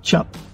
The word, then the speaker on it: chip: all about chips now a true chip is pronounced chap and it's special see